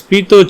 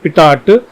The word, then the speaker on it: pitot: So in this case we have placed this pitot tube. It is not pitot. This pronunciation must be pitot tube.